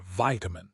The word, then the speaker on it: vitamin: pronunciation of the word vitamin changes. In the US, it is vin like the word I. In the UK, it is vitamin like the word bit.